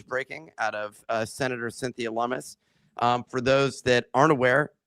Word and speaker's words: Lummis: In under 2 minutes, people, we have massive news breaking out of Senator Cynthia Lummis. For those that aren't aware, she is the person whose last name rhymes with hummus, as well as one of the most bullish crypto people in the entire Senate.